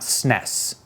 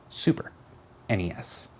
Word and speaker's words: SNES: them the Nintendo Entertainment System NES it's not pronounced Ness its NES and it's certainly not snez SNES Super NES so in this one cat this is a